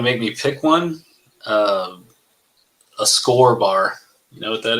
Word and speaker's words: Skor: But no, if you want to make me pick one, a Score bar.